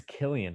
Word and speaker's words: Cillian: It is Cillian Murphy.